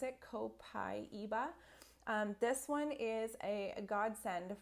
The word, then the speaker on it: copaiba: gonna move on to copaiba that's how you pronounce it copaiba this one is a godsend for mums with